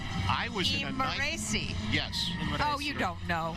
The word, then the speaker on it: Imerese: Imerese.